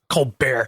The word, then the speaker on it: Colbert: Uh he that is how his parents pronounce a name. Oh, is it? Yeah. Col Bear.